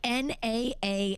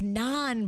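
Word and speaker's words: nan: It's like n a n. That's the bread. Yep. That's how it's spelled. So it's not like na bread. Yeah, it's non bread.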